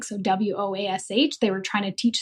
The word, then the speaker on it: Woash: And then it was a sounds like, so WOASH, they were trying to teach somebody how to say it.